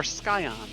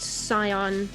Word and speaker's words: Scion: Is it Scion or Skyon? I've heard it both ways. It's actually pronounced Scion.